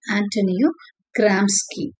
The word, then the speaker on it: Antonio Gramsci: ஆண்டனியோ கிராம்ஸ்கி, இந்த name வந்து ரொம்ப முக்கியமான டேர்ம் ரிலேட்டட் டு சபால்டர்னிட்டி. ஓகே, ஏன்னு நம்ம பார்க்கலாம். ஸோ இந்த நேம் ஆக்சுவலா இட்டாலியன். ஓகே, இதை ப்ரொனவுன்ஸ் பண்றது வந்து ஆண்டனியோ கிராம்ஸ்கி.